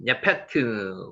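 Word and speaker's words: יֶפֶת: 야벳, 예페트, 원어는 예페트입니다. 예페트.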